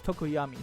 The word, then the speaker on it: Tokoyami: Sorry, it's Tokoyami.